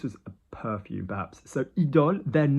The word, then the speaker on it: idôle: So IDOLE, then notice that we've got the accent over the O, which is a bit of a nod towards the brand, yeah, Lancôme, and Aura.